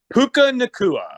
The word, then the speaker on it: Puka Nacua: Puka Nacua.